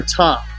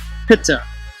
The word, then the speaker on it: Ptah: of the deity called Ptah, or Ta, if you use the silent P, Pitta, which was phonetically pronounced Pitta, and I'll portray how